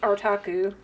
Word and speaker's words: Artaku: own name, I mean, it's Artaku, right? And I have been asked how to pronounce that because I'm just like, it's art and otaku, so I do get that one.